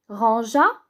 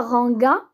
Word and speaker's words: rangea: La même chose pour tu, rangea. On ajoute le E pour que ça se prononce pas G. Alors on ne dit pas ranger, mais ranger. On ne dit pas ranga, mais rangea.